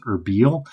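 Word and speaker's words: Erbil: So I think like with the first scene in Sanjar, he would have been like around uh I think it's actually pronounced Herbiel here, you know.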